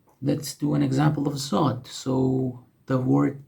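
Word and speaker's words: ضاد: Similar to this, it's called zod. Just like the previous one, it has a dot on top of it, zod.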